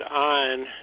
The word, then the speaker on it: Ayn: And I keep saying Ayn Rand, but you pronounce it a little bit different, and that's probably the way it should be pronounced. Yeah, she pronounced it Ayn to rhyme with mine.